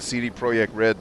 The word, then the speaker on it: CD Projekt Red: pay attention to what cd projekt red does and yes i pronounced it the way they pronounce it trying to show love and respect uh pay attention like